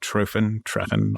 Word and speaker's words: Treffen: You played Wave Gothic Treffen. I don't know how to say it. Good enough. It's Treffen.